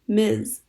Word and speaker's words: Ms: it is polite to call a woman Ms pronounced Ms unless prompted otherwise Americans